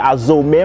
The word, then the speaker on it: Azomé: Azomia, porque meu nome é Azomé, quer dizer, Azomé, mas toda a gente conhece Azomé, Azomé, Azomé, ninguém pronuncia Azou, então eu coloquei nas minhas redes sociais de Azomé.